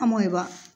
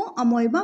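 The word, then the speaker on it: amoeba: तो एग्जाम्पल इसका हो जाता है अमोएबा, है ना। प्रोनाउंसिएशन इसका अमीबा भी किया जाता है और अभी मॉडर्न इंग्लिश में इसको अमोएबा प्रोनाउंसिएशन किया जाता है, दोनों ही राइट है यहाँ।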